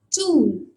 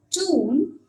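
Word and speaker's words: tūn: Say for example, TUN, okay, pronounced as tune. TUN, U with a long, with a line above, or a line overhead, which means it's a long vowel, which would be pronounced as tune.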